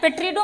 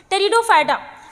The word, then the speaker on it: टेरिडोफाइटा: टेरिडोफाइटा टेरिडोफाइटा ठीक है पेट्रोड मत पढ़ना पी साइलेंट है यहां पे टेरिडोफाइटा अब देखो यहां पे